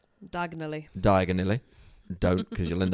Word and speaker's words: Diagon Alley: And I think one of the things with Diagon Alley is that diagonally.